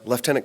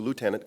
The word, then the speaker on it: lieutenant: correctly thank you Anthony he said uh leftenant Colonel Douglas Martin as opposed to Lieutenant Colonel uh people always ask me where the F in leftenant is and I say it's